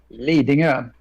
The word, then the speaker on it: Lidingö: You pronounce it for me. Lidingö.